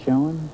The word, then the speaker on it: Schoen: Yes, Is that the way you pronounce it, Schoen?